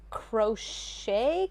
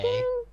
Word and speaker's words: crochet: So I had that, and then I also had a black knit, like crochet kind of Pronounced cardigan. croquet.